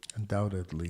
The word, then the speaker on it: undoubtedly: So, looking at the word undoubtedly, undoubtedly we have second syllable stress. So, the word doubt is stressed and uh, the word One thing you'll note is that the letter B is silent.